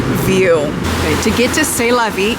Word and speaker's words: C'est La Vie: C'est La Vie, that's how you pronounce it.